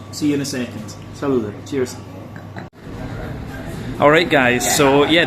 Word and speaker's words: salute: Salute.